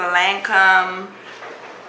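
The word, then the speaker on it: Lancôme: scared that I like to use is the land come mom to your base that's how you pronounce it but this is a sample of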